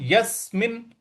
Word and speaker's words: यस्मिन: अगला पद है यस्मिनस्थितो यस्मिन स्थितो यहां पे यस पे हमको बल लगाना है यस्मिन यसिनस्थितो और मिन यहां